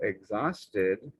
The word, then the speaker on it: exhausted: right is exhausted so exhausted has a silent h and even though we don't say exhausted it's there and the only way that i can teach that in a way that you might remember is the word ghost is very similar the h is there but it's silent you can't really hear it you can see it when you spell it but when you say it it's there but you just don't hear it okay and with a